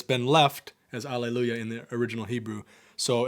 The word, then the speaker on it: Alleluia: The word Alleluia is a transliteration. I did know that. And there's no... did you know that there's no H sound in that word, too?